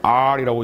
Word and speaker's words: AARRR: 하는 것을 만든 거예요 aarrr이라고 하는 R이라고 이제 발음 하는데 다섯 가지의 지표가 고객과